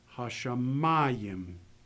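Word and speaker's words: השמים: Here, the accent is going to go with the mem. Hashamayim.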